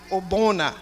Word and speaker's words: Ogbonna: All right, so the tribute reads, Ogbonna.